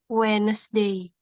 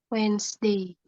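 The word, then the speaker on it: Wednesday: PM on W wesday bacanya wedesday bacanya kayak gini wedesday W nomor t email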